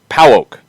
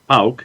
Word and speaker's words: PAOK: it is pronounced PAOK, according to Kefsi. Pow. Pauk. Yeah, Pauk.